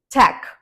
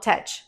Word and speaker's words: tech: can actually get right the first one is Tech not tach the second answer not